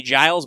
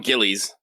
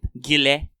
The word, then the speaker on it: Gilles: It's not actually Giles, but I always want to call him Giles. I always want to call him Gillies. That's probably the closest to how they pronounce it. Gilles. Oh, really? Yeah. It's French. It's weird. The S is definitely silent, but you could call him Gilles.